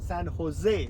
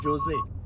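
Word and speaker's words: San Jose: काय जे प्रोनान्स ह आणि डबल एल प्रोनान्स य आणखी एक्झाम्पल तुम्हाला आठवत का म जे प्रो्स सांगा सर तुम्हाला लक्षात असेल सन होजे करेक्ट अच्छा अच्छा अच्छा अच्छा कारण त्याच्याही स्पेलिंग मध्ये जेओ एस आहे पण आपण म्हणतो सन होजे नॉट जोजे कारण तुम्ही लोक मला सांगत होता ला होयाला ला जायचंय आणि म्हणलं दिसताना तरी लाजोला दिसतय हे काय नाटक आहे आता कळलं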